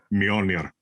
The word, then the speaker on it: Mjölnir: Mjolnir.